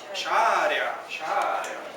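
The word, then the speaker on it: شارع: Sharia. Calle. Calle en árabe, sharia. Una shin y un vocal A. Sha. Pero con tilde, alif, acentuada. Sha. Una ra, marhaba, vocal I. Shari. Y una ain. Sharia.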